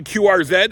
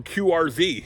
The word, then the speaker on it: QRZ: Anyway, back to QR-Zed or QR-Zee.